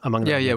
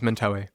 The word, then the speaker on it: Mentawai: Is it your sense that these shamanic practices it's Mentawai, right? I have that pronunciation right, Mentawai? Mentawai. What I say is Mentawai.